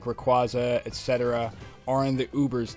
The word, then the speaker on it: Rayquaza: They showed a they showed some way to properly pronounce his name. Rayquaza.